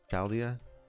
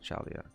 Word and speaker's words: Chaldea: you pronounce this again chaldea it's not chalia taldia chaldea kaldia i doubt lord muramasa's